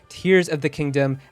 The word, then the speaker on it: Tears of the Kingdom: for the game and nintendo has confirmed to eurogamer that it is in fact tears of the kingdom as in crying now despite all of